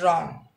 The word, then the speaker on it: wrong: of this word is wrong because the letter w is not pronounced and it's silent now wrote wrote it